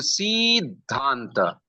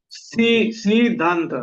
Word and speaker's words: Siddhanta: But Laghu Siddhanta, C is choti iki matra. Still, because there is da and dha conjoint letter, it will be Siddhanta. Boliye? Siddhanta.